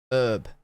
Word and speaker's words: herb: Herb. Oh my God, wait, what? Herb. But Brits just stopped pronouncing it herb in, I want to say, the 19th century.